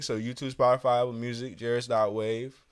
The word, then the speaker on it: Jaris.wav: So YouTube, Spotify, Apple Music, Jaris.wav. No E on the wave. And Jaris rhymes with Paris.